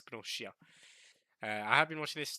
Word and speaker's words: Gnosia: Yeah, with a she sound instead of a s sound. It's not Gnosia. It's Gnosia.